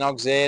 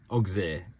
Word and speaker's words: Auxerre: In the meantime, we might spend 2 hours in Auxerre and enjoy the local facilities.